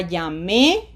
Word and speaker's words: llamé: Ya llamé, ya llame. What is the difference in meaning? Okay, let's find out. Look at that. One means I already called. The other one means hurry up and call.